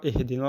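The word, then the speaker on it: اهْدِنَا: Donc, pareil, ici, il faut faire très attention avec le ihdina. Donc, souvent, on lit très mal, on dit ihdina. C'est pas un E, mais c'est un I.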